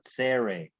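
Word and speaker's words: צירה: bite that's called a serrate serrate and i'll try to write that in english serie it has like a like a t z like pizza kind of got it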